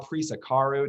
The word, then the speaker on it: Prisecaru: Val Prisecaru, did I say?